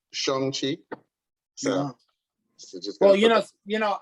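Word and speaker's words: Shang-Chi: like i mentioned before apparently it's pronounced shongxi well you know you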